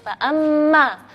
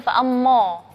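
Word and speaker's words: فَأَمَّا: Huruf mim adalah huruf yang tipis, maka di situ alifnya kita bacanya tipis, fa'amma. Nggak boleh bacanya fa'ammo, nggak boleh. Jadi bacanya fa'amma, ya, karena sebelum huruf mad adalah huruf yang tipis.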